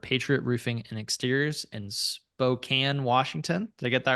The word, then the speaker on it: Spokane: We're your hosts, John and AJ, and today's guest is Josh Henderson, owner of Patriot Roofing and Exteriors in Spokane, Washington.